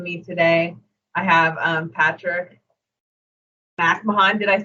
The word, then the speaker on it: McMahon: I have Patrick McMahon.